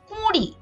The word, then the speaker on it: কুঁড়ি: হয় 20, 19, 20, কিন্তু আমরা যদি চন্দ্রবিন্দু দেই তাহলে আমাদের অবশ্যই আনুনাসিক উচ্চারণ করতে হবে এবং বলতে হবে কুঁড়ি, এবং এই কুঁড়ির অর্থ হচ্ছে মুকুল।